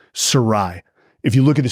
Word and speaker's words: Sarraille: we're we're we actually the name is mispronounced it got Americanized as we say it's Sarai if you look at the spelling it's very